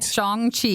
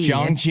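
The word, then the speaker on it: Shang-Chi: the ten rings right that's how you say it that's it am i getting it right chong chi chong chi yup uh and so that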